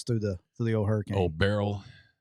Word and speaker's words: Beryl: It's like Daryl. It's Daryl, but it's Beryl.